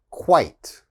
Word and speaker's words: quite: diet quiet all right and the last one eight like sight quite quite so again quit quiet